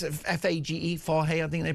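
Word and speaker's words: Fage: Do you know that it's F-A-G-E, Fahe, I think they pronounce it?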